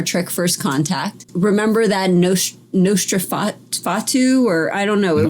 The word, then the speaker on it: Nosferatu: Remember that Nosferatu, or I don't know, it was the vampire.